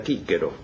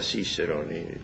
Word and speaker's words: Cicerón: usted cicerón por ejemplo en la la vieja pronunciación romana era kero no era cero era con sabemos los